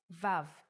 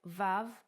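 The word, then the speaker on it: וו: let's start Bona Trail the sixth letter is VAV the sound of VAV is V or o and it's written like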